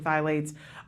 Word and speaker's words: phthalates: to toxic chemicals such as pesticides and hormone-disrupting phthalates, is that how you say it?